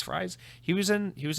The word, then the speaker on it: Fries: executive ed for uh freeze fries he was in he was in that xbox documentary i keep i think they said freeze is how you say his name anyway has expressed concern